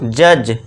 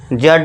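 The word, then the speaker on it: judge: डी को silent कर देंगे। हम इसको बुलाएंगे नहीं। उसे क्या बोलेंगे हम? जज। जड नहीं जज।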